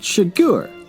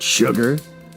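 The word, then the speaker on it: Chigurh: me complaining now it's pronounced shiggur not sugar that gives no country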